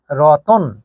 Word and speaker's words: রতন: যখন আমরা শব্দ লিখেছিলাম রত্ন, তখন রত্ন শব্দের উচ্চারণ কিন্তু ছিল এমন যে রত্ন, আর এখান থেকে শব্দ যখন হয়েছে রতন, তখন কিন্তু এর উচ্চারণ হয়ে গেছে রতন।